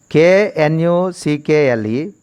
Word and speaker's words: knuckle: The second one is KNUCKLE. In this word, the silent letter is K is a silent letter, first K.